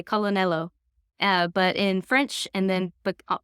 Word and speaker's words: colonnello: So colonel, like we would say it in English, in Italian, you pronounce that L. You say colonnello.